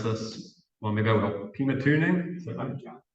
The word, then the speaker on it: Pymatuning: I'm not going to try and pronounce this. Well, maybe I will. Pymatuning? Pymatuning, thank you.